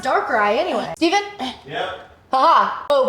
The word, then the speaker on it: Darkrai: Ooh, Darkrai.